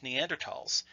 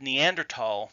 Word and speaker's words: Neanderthal: was th al but German has always been pronounced with the hard T not the English sound when the word was